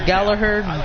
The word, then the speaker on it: Gallagher: So don't mind me if you pronounce it as Gallagher. By all means, go ahead. I like to get the emphasis of the G in there, just because of how, well, I like to pronounce it.